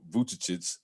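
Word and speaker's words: Vučević: The skills competition, somehow Domantas Sabonis won it, and he won it against Nikola Vucevic.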